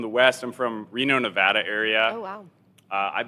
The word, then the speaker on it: Nevada: it's like a long it's like a long a like the a Nevada all my family would